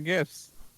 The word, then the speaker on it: GIF: It's one of your favorite gifts.